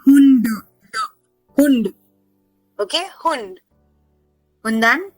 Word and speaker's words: Hund: No, the sound is not T. It is D only. Hund.